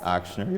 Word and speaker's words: Ochsner: Coming from Louisiana, you were at Ochsner Health. Ochsner, yep. Thank you for helping me pronounce that.